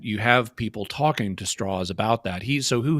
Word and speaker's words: Strauss: who he was but straws um to use the even though it's spelled Strauss it's pronounced straws um but uh he